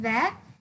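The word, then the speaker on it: vingt: Yeah, you pronounce it then.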